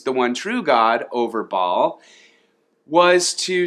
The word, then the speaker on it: Baal: He traded in God for the god Baal, or if you want to say it correctly, it's Baal, or I've heard people say Baal.